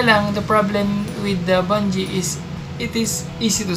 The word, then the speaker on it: Bunge: Yung unang tawag ko dito is Bungee. Pero sabi nila Bungee daw yung tamang pronunciation.